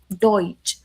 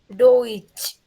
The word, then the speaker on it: Deutsch: German language, we say it Deutsch. What, miss? Deutsch. Deutsch. Correct.